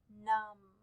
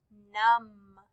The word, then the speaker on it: numb: The word numb. Say the word numb. It has MB at the end, but we only hear the sound.